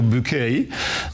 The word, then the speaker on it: Bucket: Trochę jak jak sławna pani Buke z brytyjskiego sitcomu, która się nazywała Bucket, ale mówiła, że to trzeba czytać po francusku BK i to było oni